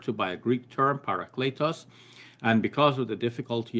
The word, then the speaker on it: paraclete: commentators decide to just simply retain the word parakletos. They retain it often in an English equivalent or an anglicized pronunciation, paraclete.